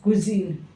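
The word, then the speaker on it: cuisine: ये कोई वर्ड नहीं है हमारी जो सही स्पेलिंग होगी सी यू आई एस आई एन ई कुजन ये होगी कुजन इसे बोला क्या जाता है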